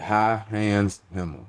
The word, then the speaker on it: High Hands Hemma: Yeah, High Hands Hemma.